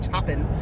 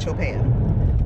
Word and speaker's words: Chopin: I was called Chopin I know it's not chopping but I think it's Cho pan so that record should